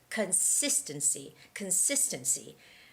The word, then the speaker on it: consistency: Now, the trick to reading this word right is having the right stress on the second syllable, which is sis, consistency.